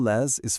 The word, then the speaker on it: les: It sounds exactly like the English word lei.